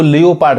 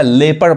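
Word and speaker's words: leopard: अब देखिए अब इस वर्ड को भी बहुत लोग मिस प्रोनाउंस करते हैं, इसको लियोपार्ड कहते हैं, जबकि ये क्या पढ़ाएगा? लेपर्ड पढ़ाएगा, नहीं ओ नहीं पढ़ाएगा, लेपर्ड।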